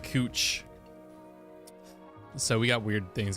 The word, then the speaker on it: Couch: Street in Portland that's it's spelled couch but it's pronounced cooch so we got weird